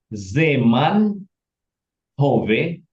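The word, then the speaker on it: זמן הווה: Zeman Hove.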